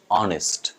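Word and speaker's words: honest: তারপরের শব্দটা আমরা এখানে এইচ উচ্চারণ করবো না কিন্তু আমরা এটাকে হয়তো অনেকে উচ্চারণ করি অনেস্ট অনেস্ট তাই না অনেস্ট হচ্ছে একদম ডিরেক্ট উচ্চারণ বাট উচ্চারণ হচ্ছে অনিস্ট অনিস্ট উচ্চারণ লাস্টে নেস্ট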